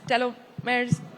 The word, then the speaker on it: telomeres: We hear a lot about gene therapies, telomeres, telomeres, that's how you say it.